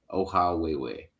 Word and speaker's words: Ohawhewhe: your name but uh how do you pronounce it oh way way oh how way way okay and you said